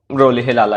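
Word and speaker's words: Rolihlahla: ये देख लीजिएगा प्रोनाउंसिएशन, वैसे तो ये रोलिहिलाला ही है।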